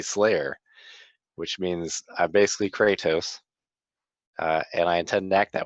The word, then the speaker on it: Kratos: which means i basically Kratos and I intend act that way a lot of things are gonna need to die it's pronounced crack tous frat house I'll ask my apologies